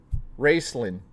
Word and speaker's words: Racelin: Wrestling Sly, is that how you say your name? Or Racelin Sly? I don't know how to say it. Racelin. Okay, Racelin. First and foremost, Racelin, thank you for the support there.